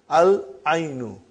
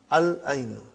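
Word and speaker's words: العين: And then Al-aynu. The eye. We pronounce lam. Al-aynu.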